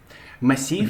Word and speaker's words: massif: another consonant before it, you don't pronounce the last one, okay? Because we have F, we don't pronounce S here, okay? So we call just massif, okay?